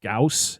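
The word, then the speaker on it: Gyaos: to stop Godzilla, or sorry, Gamera and what, Gauss, is that how you say it?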